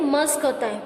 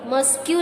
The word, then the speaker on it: mosque: Listen, ये जो लिखा है MOSQUE, इसका जो प्रोनाउंसिएशन है मस्क होता है, मस्क्यू नहीं होता है. ओके, बहुत सारे इसको मस्क्यू भी रीड करते हैं, बट ये मस्क्यू नहीं है, मस्क बोलते हैं.